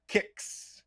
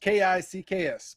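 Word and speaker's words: Qix: i'm like i said everybody in america as long as i've known has always called it kicks just k-i-c-k-s but if you break it down phonetically translate it from japanese it is spelled q-u-i-c-k-s and that is directly from taito so you can call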